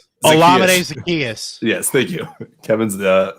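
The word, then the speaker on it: Olamide Zaccheaus: gage or uh kevin what's how do you pronounce his name olamide zacchaeus yes thank you kevin's the the resident pronunciation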